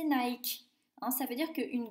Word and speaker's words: Nike: la victoire en grec en anglais ça se prononce mahiki et en français et en haïti c'est nike en ça veut dire